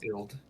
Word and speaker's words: Ild: Deity, you would know the rune and the chest that is enlarged under that little story snippet is pronounced Ild, I-L-D.